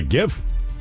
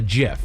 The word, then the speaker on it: GIF: It's a graphics interchange format and he created it for your acronym to be uh pronounced with a soft G that sounded like the peanut butter brand of GIF.